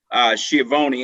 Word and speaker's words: Schiavoni: And after we hear from Andy, we're gonna pivot over to Schiavoni. Hope I pronounced your last name correctly.